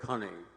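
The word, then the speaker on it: Cunnie: My name is Cunney, C U N N I E. It rhymes with money. It's easy to remember that way.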